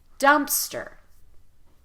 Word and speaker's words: dumpster: times repeat after me lots of emphasis on the first syllable really rush through the second dumpster dumpster dumpster good in